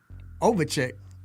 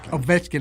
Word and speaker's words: Ovechkin: Washington Capitals captain Alex over check that's Ovechkin I'm sorry oh that's